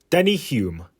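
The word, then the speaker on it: Denny Hulme: fanjo as your teammate is no mean feat Denny Hume yes that's how it's pronounced is the first and so far only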